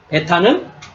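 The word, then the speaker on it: β: 하나 예 자 다음 글자는 베타입니다 베타는 우리 한글의 비읍 발음입니다 한글로 써야 되겠네요 그죠 영어 시간이 우리가 한글로고 배우는 거니까 예 그래서 비읍 바름입니다 비 그다음에 세 번째는 감마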